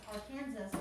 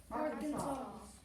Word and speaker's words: Arkansas: So it looks like A-R and the word Kansas, but it is just one word. And it's not pronounced Arkansas, it's pronounced Arkansas.